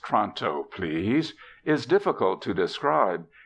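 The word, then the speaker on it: Toronto: gleamed but without Radiance Tonto pronounced tronto please is difficult to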